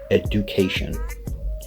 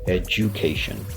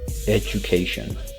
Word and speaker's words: education: decide to pronounce it education but again here we're going to not do that we're actually going to pronounce the D as the J right so we're going to say education right education and this is actually